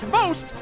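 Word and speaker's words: XBOCT: Xbox, which is somehow pronounced Host, or as I like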